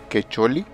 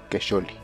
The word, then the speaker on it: Quecholli: Quecholi lleva el nombre del 14º mes del calendario azteca y está dedicado al dios de la caza Camaxtli.